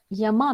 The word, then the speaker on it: yama: so what is the yama means the yama or we pronounce it as yama but it is yam so yum there are five yamas